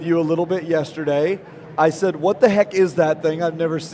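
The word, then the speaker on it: Yishai: up a little bit it's spelled y i s h a i but it's isai you got it like he shy and from spin excellent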